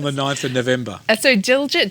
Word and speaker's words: Diljit: How did you pronounce the first one? Diljit.